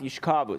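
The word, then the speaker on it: יִשְׁכָּבוּ: So it's not yishkavu, it's yishkavu. The accent is on the kaf, on the kamats, by the kaf, yishkavu.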